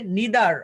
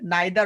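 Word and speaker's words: neither: আচ্ছা, আর এই যে নিদার, আমরা উচ্চারণ দুটা ভাবে করতে পারি, নাইদার অনেকে করি, নিদারও করতে পারি, বোথ আর কারেক্ট। ওকে, বোথ আর কারেক্ট, একটা আছে আমেরিকান একটা ব্রিটিশ, সেক্ষেত্রে হচ্ছে আমরা ইটস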